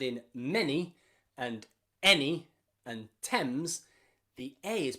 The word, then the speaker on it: Thames: Not including those 7 sounds, we can also very rarely pronounce the A as an in words like any and many and the river in London, the river Thames.